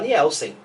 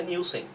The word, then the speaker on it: Nielsen: Mas você sabe que você é uma das poucas que fala certo, pronuncia certo. Porque a maioria fala como? Fala Nielsen, só que o certo é Nielsen. Porque ele tem porque é dinamarquês o sobrenome.